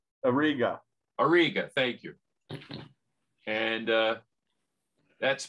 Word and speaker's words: Auriga: face and it's in um um i'm gonna butcher the name dave you know where it is yeah i can't say it auriga aruga auriga auriga thank you and uh that's my uh that's